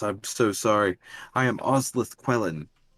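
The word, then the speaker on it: Osleth Quellen: friend oh yes i'm so sorry i am ozleth quellen oz leth quellan can you uh spell that for my buddy maurer here yeah o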